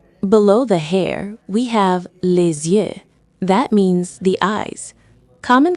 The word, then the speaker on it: les yeux: One eye is l'œil, but two are les yeux. Just remember the Z-U-E sound for the plural.